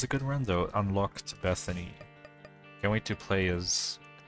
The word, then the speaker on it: Bethany: say that that's a good run though unlocked bethany can't wait to play as bet haney what i mispronounced her name word anyway enough dumb talk